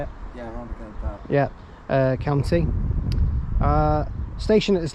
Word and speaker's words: Rhondda Cynon Taf: So it's the village of Pembroke Iver in Rhondda Cynon Taf in the Rhondda Cynon Taf, I think that's how you say it. Yeah, Rhondda Cynon Taf.